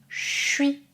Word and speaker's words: je suis: Avec je suis, on prononce suis, suis. On ne prononce plus le son j, mais le son ch.